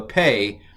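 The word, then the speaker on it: פ: Now, the Pei, I'm going to pronounce it as P if it has the dot and F if it doesn't.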